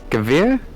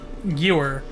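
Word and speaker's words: Gewehr: Gavir? Oh, it's I used to pronounce it Gewer, but it's Gavir.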